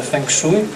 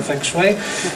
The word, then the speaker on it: feng shui: jak feng shui, prawda, w Polsce to się wymawiane feng shui, ale poprawnie się wymaga feng shui, czyli no, taka układanka po prostu.